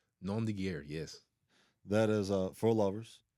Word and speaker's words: nom de guerre: Am I pronouncing this right? Nom de guerre. Nom de guerre, yes.